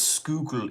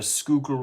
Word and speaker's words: Schuylkill: Schuylkill. Schuylkill. The Schuylkill River. Schuylkill is how I would pronounce that.